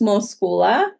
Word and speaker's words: Moschoul: fully open and transparent my name is pronounced mosa M I'm so sorry I apologize yeah so if someone else watches it they know it's pronounced mosula okay yeah it's pronounced